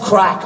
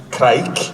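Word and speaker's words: craic: back yeah yeah now even though it's spelled c-r-a-i-c it's crack but would it in in Gaelic would it or an Irish would it be kreik no crack it would just be crack yeah crack gotcha the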